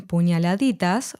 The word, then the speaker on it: puñaladitas: As in demasiado, the letter D in puñaladitas was omitted, so it's pronounced puñaladitas instead.